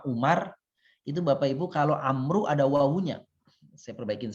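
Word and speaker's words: عمرو: Arab ampuh sama Umar itu bapak ibu kalau Amru ada wawu nya sia perbaikin saja memang ini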